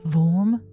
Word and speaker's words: Worm: Close to Rømerhus, we find Wormhus, pronounced Worm, not like the English word worm, likely named after the physician and antiquarian Ole Worm.